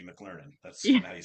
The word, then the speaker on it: McLernon: your last name, McLernon," which I would say if McDonald's had a school and I was a student, I'd be McLernon.